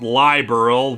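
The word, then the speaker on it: Liberl: rights to slime monsters actually I'm pretty sure it's pronounced liberal which is basically the name of the country we're in headed over by Queen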